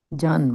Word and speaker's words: जन्म: Janma. Janma. Janma. Two syllables. Give me two syllables. Janma. Jan and ma, right? That's how you will do that.